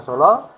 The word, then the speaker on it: Solo: Tulisannya salah karena kalau Romawi Hono Coroko itu Hana Caraka Data Sawala. Ejaan Jawa. Solo. Jadi yang betul bacaan Solo.